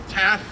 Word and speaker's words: TAAF: TAF, am I saying it right? Yes.